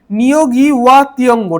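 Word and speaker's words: Ngũgĩ wa Thiong'o: এখানে হবে নিয়োগি ওয়া তিয়ঙ্গ, ঠিক আছে। NYOO, ঠিক আছে, NYOO GEE, ঠিক আছে। এটা প্রোনাউন্সিয়েশন লিখছি আমি, এটা ঠিক আছে। WAH ওয়া তিয়ঙ্গ, ঠিক আছে। TEEONGO, ঠিক আছে।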